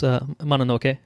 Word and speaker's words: Mononoke: name but I believe it's called princess Princess Mononoke mannakee Mahnomen enoki something like that um so you eventually got pretty close Mononoke yeah Mononoke yes so I watched that and